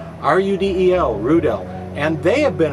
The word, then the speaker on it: Rudel: West German company called Rudel. Rhymes with strudel. R-U-D-E-L, Rudel.